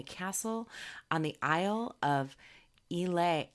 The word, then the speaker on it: Islay: on the Isle of Islay Isle a she even put it phonetically god you love her